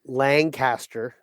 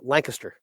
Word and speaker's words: Lancaster: It's not Lancaster, it's Lancaster.